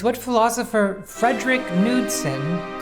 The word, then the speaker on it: Knudsen: The D is just it's just Knudsen. It's not fancy. It's not that fancy with like silent letters. Only the K is silent.